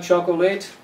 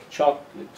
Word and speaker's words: chocolate: loves do you like chocol late actually you don't like chocol late you're never late for choco the first syllable is a strong one so the correct pronunciation is choclate choclate the late becomes